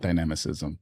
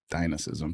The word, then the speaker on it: dynamism: Correct way to pronounce dynamic. It's not dynamicism. It's dynamism. Dynamism.